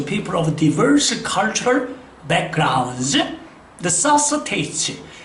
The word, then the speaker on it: necessitate: AT로 끝나는 말의 액센트 법칙은 그것으로부터 두 번째 모음에 항상 액센트가 있어요. 두 번째 모음에. 그래서 우리가 교육을 한다? 그러면 AT로 끝나니까 여기가 모음, 여기가 모음이니까 educate 이렇게 발음이 되는 거죠. 그러면 요 발음도 바로 뭐냐? AT로 끝났으니까 요게 모음, 요게 모음, 두 번째 모음이니까 necessitate.